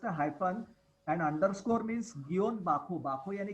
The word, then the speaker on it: guion: Sir, How do you pronounce the hyphen, like in Khore hyphen Vito? Yeah, it's called Gion. I think I had given the Gion. I had given Guion.